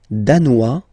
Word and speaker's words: danois: Le Danemark, danois, danoise. Okay, insist on that. Danois, don't pronounce the final S.